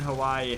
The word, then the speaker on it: Hawaii: The A in Hawaii has a ah sound.